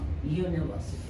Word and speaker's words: university: come here but U what is the sound of U umbrella under up and here the sound is u sound of why yellow you your yesterday yeah so it's a sound of a consonant so he will say